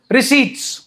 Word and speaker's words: receipts: रिसीट्स। P silent है जी इसमें, चलो बस पढ़ना नहीं है।